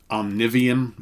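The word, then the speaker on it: Omnivium: choose any other albums i would recommend um omnivian and that's spelled o-m-n-i-v-i-u-m from 2011.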